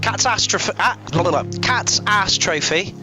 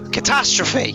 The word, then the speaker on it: Katastrophy: So, Cat's Ass Trophy. Have I pronounced that right? I don't think I have. No, Catastrophe.